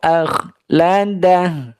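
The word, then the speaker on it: أخلده: ya yahsabuahu aklad ini Ko dibaca tebal ya k dibaca tebal sehingga diucapkan dengan menjauhnya rahang ya dan menyempitnya bibir menyempitnya pintu dari mulut ya ak ya akada rahnya dijauhkan Sehingga ee menciptakan rongga mulut yang luas ya yahsabu Anna maahu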